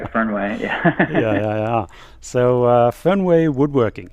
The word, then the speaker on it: Fernweh: He is the original Fernweh. Am I saying that correctly? I've been saying it wrong, I think, all these years. Yeah. No, that's right. Fernweh.